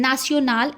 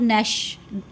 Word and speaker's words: national: Fête means festival and national is national. National in French जहाँ भी TIO ये spelling होगा तो इसका pronunciation होगा nation, NATIO, nation. It's not nash, it's national.